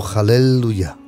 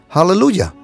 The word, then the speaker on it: aleluya: más menciona la palabra aleluya al él o hallelujah nosotros pronunciamos español aleluya sabes cuántas veces la